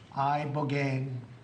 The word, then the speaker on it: ibogaine: Ibogaine. Remember the name. Is that pronounced relatively properly, would you say?